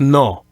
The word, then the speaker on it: no: If I were to say no, then toward the end of that sound, I'm drawing my lips in close, like into a whistling position. No. I'm closing my lips. But it sounds like the Spanish way, you never close your lips like that. You just keep your mouth sort of open, like no.